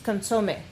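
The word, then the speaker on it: consomé: It's consome.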